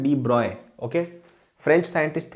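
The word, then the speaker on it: de Broglie: तो उसने ये बोला उसको डी ब्रॉय बोला जाता है। उसकी स्पेलिंग होती है डी डी ई ब्रोगली। लेकिन उसको प्रोनाउंस करते हैं डी ब्रॉय।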